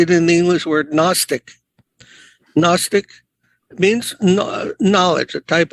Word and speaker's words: Gnostic: We see it in the English word Gnostic. Gnostic means knowledge, a type of knowledge, very secret type of knowledge. Gnostic.